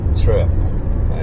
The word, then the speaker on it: trip: in one syllable like if you study the word trip there's like two consonants TR R and then I which is a vowel and P which is a consonant so when there's more than one consonant Japanese people have difficulty replicating it okay because they tend